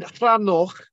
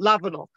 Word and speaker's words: Lavernock: But the local pronunciation has been Llanoch, not Lavernock, or Llanog, presumably from the Welsh Llanog.